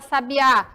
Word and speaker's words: sabiá: olha só a diferença aonde vem a sílaba tônica na palavra sábia na primeira sílaba onde vem a sílaba tônica na palavra sabiá na última o som dela é